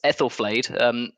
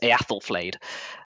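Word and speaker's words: Æthelflæd: So her name is, it depends who you ask, but sometimes you pronounce it Ethelflaed. In the Old Anglo-Saxon, Old English, it's Eathelflaed.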